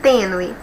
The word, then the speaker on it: tênue: de acentuação da palavra tênue. Deixa eu pegar minha canetinha aqui e vamos separar aqui, ó. Tênue, nós temos 2 sílabas e a penúltima é a mais forte.